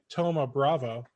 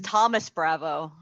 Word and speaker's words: Thoma Bravo: Don asked if anyone's heard of that new PSA offered by Thoma Bravo. I don't even know if I'm pronouncing that correctly. I don't either. I thought it was Thomas Bravo. Yeah, there's no S.